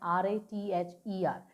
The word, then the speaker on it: rather: एंड एक और मैं आपको सजेशन दूंगी, जहाँ भी आपको आर जो है वो लास्ट में मिलता है तो ट्राई टू इग्नोर दैट। उसको हम लोग प्रोनाउंस नहीं करते हैं, उसको हम इग्नोर करते हैं। जहाँ आपको लास्ट में, जैसे रादर है, रादर, इसका स्पेलिंग है RATHER, बट हम इसको प्रोनाउंस कैसे करेंगे, रादर। द पे ही आपका खत्म हो जाएगा, रादर। आर को हम लोग जो जरा सा इग्नोर मार के चलेंगे।